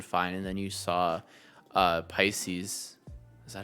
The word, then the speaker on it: Pisces: that you can find, and then you saw Pisces. Is that how you pronounce it?